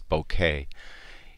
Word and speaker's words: bokeh: because of this creamy bokeh in the background or if you prefer to pronounce bouquet it's just fantastic shot